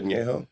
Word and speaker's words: añejo: Reposado, añejo. Yes, sir. And maybe you'll pronounce añejo.